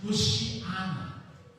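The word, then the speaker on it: hosanna: Ang hosana po na salita, hosana. Hebrew po ito na ang ang pronunciation niya is Hoshiana. Hindi isiha. Hoshian. Hoshian na ang ibig sabihin is save we pray. Saveed with pray for sa latin ito po ay hosana.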